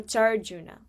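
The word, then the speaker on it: चार्जुन: You have to like remember that it's not like a ka sound, it's a cha. So charjuna, okay?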